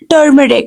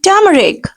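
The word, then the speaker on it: turmeric: टर्मरिक कहते हैं okay this is नॉट टर्मरिक नो are will be silent we have to give are sound of as here the word will be टरिक actual pronunciation will be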